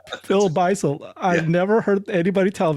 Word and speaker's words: Beisel: Have I been saying your name wrong the whole time? Dude. I've said this to others. It's Beisel.